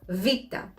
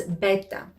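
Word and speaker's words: βήτα: with the letter vita if you learned anderson greek in high school or in college you might know it as beta and you might think that it produces the sound b but in modern greek this is not the case vita is actually much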